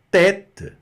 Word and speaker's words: tête: Tête, tête, bem aberto, repita.